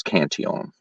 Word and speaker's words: Cantillon: to the state is often known as the Cantillon effect, or a lot of people refer to it as Cantillon effect because of the way it's spelled. But being a French guy, it was Cantillon.